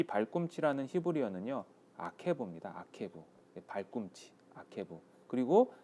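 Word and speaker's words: עקב: 아케브.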